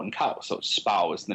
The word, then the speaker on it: Spui: off a court called spow which is spelled spui but I've been told that the UI in Dutch is pronounced like the ow and cow so Spa is the name of